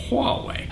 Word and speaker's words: Huawei: by Motorola Samsung LG Huawei that's how you pronounce that Huawei Android is all about